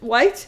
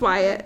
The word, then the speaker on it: Wyatt: She goes, White? It's pronounced Wyatt.